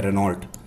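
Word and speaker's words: Renault: अच्छा, एक चीज़ और मैं आपको बता दूं, भले ही ये रेनॉल्ट लिखा हो लेकिन इसका प्रोनाउंसिएशन रेनो होता है, इसको रेनो बोला जाता है, ठीक है, और इसको निशान ही बोलते हैं।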